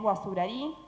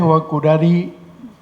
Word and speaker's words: Guazurarí: toca reflexionar sobre Andrés Guazurarí. El término se pronuncia de distintas maneras, parece que originalmente Guazurarí, pero bueno, sabemos a qué nos referimos.